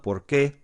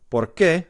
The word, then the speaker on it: porque: whenever however and whichever these two are really similar they're pronounced the same but they're spelled differently por que the question and then